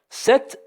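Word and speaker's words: sept: 7, le P ne se prononce pas.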